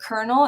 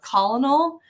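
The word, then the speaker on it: colonel: words so for example I don't realize that it's a kernel instead of colonal words English English yeah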